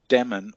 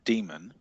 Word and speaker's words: daemon: are correct or incorrect, because the AE is pronunciation left over from Latin. And you can still, like in medieval, it still appears in a word. Now, in the word medieval, which is spelt with that AE in English, or the word aesthetic, it's either an E or an E. So it should be demon or demon.